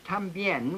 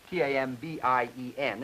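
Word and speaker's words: también: tambien which means also t a m b i e n is the way it's spelled but the speakers of Spanish very frequently particularly around Puerto Rico for instance will say both tambien and tambi in other words you'll say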